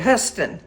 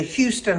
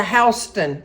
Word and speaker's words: Houston: h o u s t o n he pronounced it hust and then I find out I'm thinking I'm taking him to the Houston Hospital well guess what it wasn't the Houston Hospital it's the HST Hospital well look at me here learning something